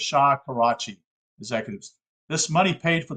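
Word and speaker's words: Shakarchi: Suisse and later laundry by karchia Executives I'll spell that to you SK I'm sorry s-h-a-k-a-r-c-h-i so it's Shah Karachi Executives this money paid for the delivery of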